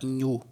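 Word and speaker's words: ñu: Em espanhol esse NH não existe, então vai ser esse N com tio quando for pronunciar esse som. Então é chamada de la N, como na palavra nhu. Nhu significa gnu, é um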